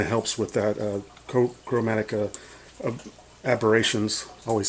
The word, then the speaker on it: aberrations: See, chromatic abbreviations. Okay, aberrations.